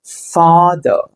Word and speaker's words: father: Father. Father. Brother. Brother. நம்ம எப்படி சொல்லுவோம்? Father, mother, brother. No. So you have to pronounce these words or words as mother, father, brother.